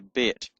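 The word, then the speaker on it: בּ: So, when it's uh got a hard sound with the dot in it, signified by the dot in it, it's pronounced B. So, it's called a bet.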